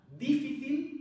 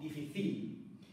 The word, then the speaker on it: difícil: palabra es llana cuando la sílaba fuerte o sílaba tónica recordáis es la penúltima por ejemplo difícil es muy diferente pronunciar difícil o dificil también es llana la